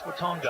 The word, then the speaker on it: Watonga: I figured that might be Watona down in Oklahoma. No, I think that's Watonga, I believe.